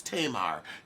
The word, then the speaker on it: Tamar: y in her name ta y ma r is Tamar ta ma are tah ma come on Tamar Tamar come on exactly I'll call you tomorrow it's Tamar Braxton okay pronouncing her name